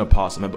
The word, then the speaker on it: opossum: again that is an opossum and before y'all get on me some people say the yo Asylum others don't Animal Planet pronounce the oh so I do too the difference is